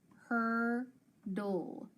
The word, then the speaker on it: hurdle: And then I also know that the E is silent. So I've got D-ul, dul.